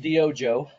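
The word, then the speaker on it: DYOJO: did you come up with that so it's pronounced Dojo um it's Guatemalan okay that's my heritage no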